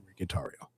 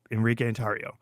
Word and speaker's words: Enrique Tarrio: So on my birth certificate, it is Enrique Tarrio. It's Enrique Tarrio.